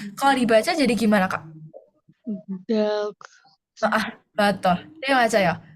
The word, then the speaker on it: 닭: duck. Oke, Oke, kalau misal ada huruf seperti ini, ada di bawahnya ada dua konsonan, itu biasanya umumnya ya, tidak semua situasi, tapi umumnya yang L ini gak dibaca.